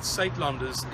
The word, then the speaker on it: Suidlanders: Yes, the word SaitLenders is spelled SUIDLANDERS.